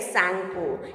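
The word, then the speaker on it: Tsangpo: T is silent here, Sangpo.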